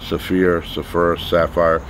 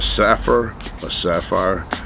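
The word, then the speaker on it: Saphir: Sapphire.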